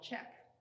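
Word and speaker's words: Czech: is my second painting this painting is called check uh it's spelled c-z-e-c-h but it's actually a pun on the word check which is in itself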